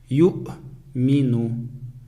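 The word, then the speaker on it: يُؤْمِنُ: Первое слово ю'мину. Теперь на этом слове хамза стоит над буквой вау. Над буквой вау. Вау аннулируется и не читается, и не произносится.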